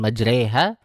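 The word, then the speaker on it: مجراها: Ayat yang ke-41 dibaca dengan majreha.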